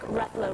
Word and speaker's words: Ruffalo: Mark Ruffalo rhymes with Buffalo.